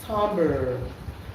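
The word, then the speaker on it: timbre: It is spelled timber but pronounced tambber.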